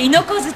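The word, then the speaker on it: 牛膝: 担当の猪子槌です。牛に膝と書いて猪子槌と読みます。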